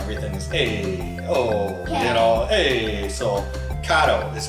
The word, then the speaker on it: Kato: a kid so we're going to try the kado stuff sometimes dad calls it kato so forgive me that's probably just because i'm from chicago and everything's hey oh hey so kato is how you pronounce the track so we